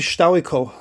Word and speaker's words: Stilicho: You'd pronounce that as a W. There's a Polish letter where that's a W, and it looks very similar. So this would be Stowikow, Stowikow, and basically, yes, it's